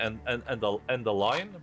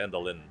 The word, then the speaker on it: Endaline: But it's very 50-50, and I feel like a lot of European people say Endaline, but a lot of like Americans say Endaline.